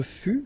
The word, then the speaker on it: fus: Je fus, okay, keep in mind that final S is not pronounced.